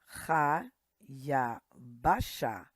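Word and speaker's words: הַיַּבָּשָׁה: Ha. Ya. Ba. Sha. Again, this is silent. Ha. Ya. Ba. Sha. Hayabasha.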